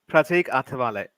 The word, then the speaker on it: Pratik Athavale: As Pratik Athaval, I think that's right how you say it. It's Pratik Athavale. Oh, right, okay. Atavali, is it?